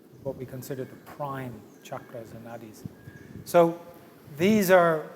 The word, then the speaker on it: chakra: You'll hear some people say chakras, but it's mispronunciation, so chakras.